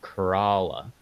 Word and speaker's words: Corolla: somewhere but it's pronounced Corolla you know like when you drink too much uh you crawl uh good they've got